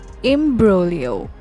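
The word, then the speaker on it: imbroglio: Meo E A megalomania imolo IM broo imolo g is silent here bragado doio brag a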